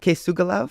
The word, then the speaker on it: K̓esugwilakw: to be talking about decolonization through design with kugala from Sky spirit thank you for joining me today h uham uh you pronounced my name amazingly uh my my name